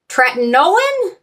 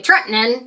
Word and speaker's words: tretinoin: the trino lotion Transit right tretinoin I always say Trenton Trent Nolan try to say it right I keep practicing but